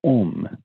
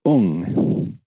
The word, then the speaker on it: Om: So, for example, when we think of the holy syllable as Om, in Japan it's pronounced Ung.